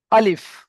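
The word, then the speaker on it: ألف: উদ্দেশ্য হলো এখান থেকে এই চিহ্নটা দেখে বুঝতে হবে আমাকে যে এই অক্ষরটা একটু টান হবে না তো এখানে কেমন ভাবে উচ্চারণ করতে হবে আলিফ আলিফ আমার সঙ্গে সঙ্গে আপনারা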